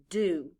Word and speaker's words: do: out loud d o the letter o stands for the long u sound repeat after me now